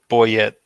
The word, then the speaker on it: Bouyette: meth win is what I his name is pronounced Edwin Edwin oh it is it it it wouldn't Boyet Oh hmm that's it's funny because I'm I